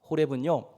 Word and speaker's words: 호렙: 호렙이가 아니라 호렙입니다.